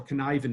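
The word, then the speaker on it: Cynefin: model that's called a connivin model now two things about the connivin model first of all can I even is not spelled and pronounced the same way at all so that's the first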